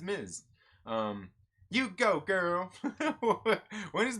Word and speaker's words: Ms.: People say Miss Marvel too much. Yeah. No, it's Ms. Yeah, Ms. Marvel. It's MS, or do they do MZ? Either way, but yeah, it's Miz. Yeah, it's Miz.